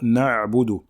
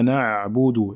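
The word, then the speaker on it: نعبد: Donc il faut bien prononcer le Ayn, qui est une lettre qui passe par la gorge. Donc ici, il ne faut pas l'avaler ou bien la réciter précipitamment. D'accord? Il faut prendre le temps de bien la prononcer. Iyyaka na'budu, et non pas na'budu, na'budu, comme le font certains. Il ne faut pas l'avaler. Donc c'est pas na'budu, mais na'budu. On montre bien le ayn.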